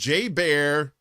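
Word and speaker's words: JBER: The bear was caught on camera entering the Exchange shopping mall on the base, which is commonly known by the acronym J-Bear, or J-Bear, pronounced J-Bear, or in this case, it's probably P-Bear with the poopies.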